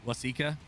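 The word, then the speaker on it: Waseca: Is that how you say it? Lasika. Yes.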